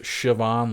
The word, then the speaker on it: Siobhan: of those funky irish names you know like siobhan right yeah but it's spelled s-i-o-b-a-h-n and and but it's really pronounced shivan like s-i-a-s-h-i-v-a-n yeah it's pronounced that way but